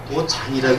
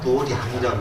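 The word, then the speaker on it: 道場: 이거는 우리가 이제 그때는 도장이라고 읽죠. 근데 불교에서 도장이라고 읽지 않고 이건 도량이라고 읽습니다. 이렇게 쓰면 이렇게 쓰고 도량이라고 읽습니다.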